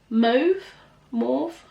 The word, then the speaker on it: mauve: Mauve. I think you pronounce it mauve, but I know depending on where you're from you pronounce it differently.